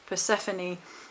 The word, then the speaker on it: Persephone: And it's actually Hades' wife, now I've got this written down because I always pronounce this wrong, Persephone, who actually was very, very moved by the